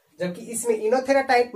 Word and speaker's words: Oenothera: अब मोनोस्पोरिक में 2 टाइप आते हैं, एक आपको आते हैं पॉलीगोनम टाइप और दूसरा आते हैं इनोथेरा टाइप, वो साइलेंट है तो इनोथेरा टाइप आते हैं ना।